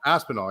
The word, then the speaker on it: Aspinall: Aspinall, yeah.